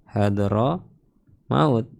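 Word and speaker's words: حضرموت: Hadar maut nama kota hadr maut kita bacanya hadro maut.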